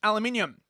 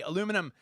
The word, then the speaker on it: aluminium: man for $5 uh saying that I mispronounced aluminium of course the Americans say aluminum and the Americans of course are wrong in their pronunciation whose language do you